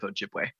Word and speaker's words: Ojibwe: Alex, will you tell us how to pronounce this band name? Yeah, I'm a member of the Little Shell Band of Ojibwe.